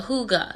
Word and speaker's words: Hygge: It's a hooga. Yeah, it's spelled Hygge. Nothing like it looks, but yeah, hooga.